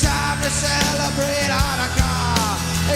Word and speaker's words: Hanukkah: Tell that old Monica it's time to celebrate Hanukkah. It's not pronounced Chanukah. The C is silent in Hanukkah.